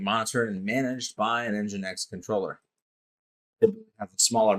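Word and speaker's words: NGINX: Then we have engine X which is pronounced just like it sounds engine X plus load balancing and application delivery.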